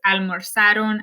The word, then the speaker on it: almorzaron: So note how I pronounced all of them. I had a very soft Z sound. Almorzaste, almorzó, almorzó, almorzamos, almorzasteis, almorzaron, almorzaron.